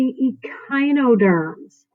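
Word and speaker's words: Echinoderms: next up is the e Chi no terms e kind you know pronounce that ch2 hard C's some shared characteristics is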